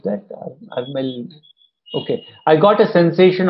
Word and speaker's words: Arul: How do I pronounce that? Arul.